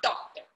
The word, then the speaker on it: doctor: He's not doctor. He's doctor. Doctor. R is silent.